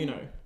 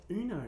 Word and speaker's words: Uno: definitely Uno. It's Uno. It's not it's Uno. It's Uno. It comes from the Spanish You're word wrong.